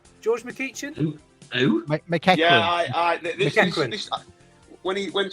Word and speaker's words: McEachran: McEachin. Is that how you say his name? George McEachin? Who? McEachran.